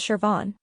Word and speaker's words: Siobhan: get started name one Siobhan first up is sioban originating from Irish it's pronounced as Shian remember it's all about that AER sound at